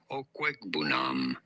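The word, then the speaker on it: Okwuegbunam: How do you go about pronouncing his name? Albert is his first name, and then Okwegbunam.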